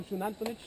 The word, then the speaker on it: Xunantunich: Okay guys, uh first of all, I give you a warm welcome to Shunanich. That's the way the the word is pronounced. The X in Maya is pronounced as sh of shuanich meaning made of the rock.